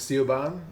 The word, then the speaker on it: Siobhan: Siobhan is Siobhan. Yeah, Siobhan. Yeah. Well, which was, which is spelled with a B with a H-A-I-N originally.